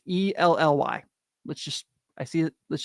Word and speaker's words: Elly: If you're gonna insult Ellie, can we at least say his name right, please? It's E L Ly.